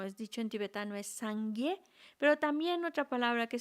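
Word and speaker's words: སངས་རྒྱས: Buda, ese ser iluminado, en tibetano se llama Sangye. En sánscrito es Buda. Ujú. Os voy a hablar en tibetano, son 2 sílabas, Sangye.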